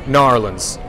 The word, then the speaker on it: New Orleans: And there's nothing quite like the decorations throughout New Orleans Square this time of year, or Narlands, as I've been told to pronounce it from this point forward.